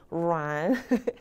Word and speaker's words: 软: 제가 중국어 발음 중에 제일 부드럽게 하는 발음인 것 같아요. 여러분 한번 해보세요. 루안. 혀가 정말 부드럽게 말아 올라가죠.